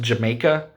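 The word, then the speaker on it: D'yer Mak'er: jamaica or dyer maker if you don't know how to pronounce it it's pronounced jamaica um but it's spelt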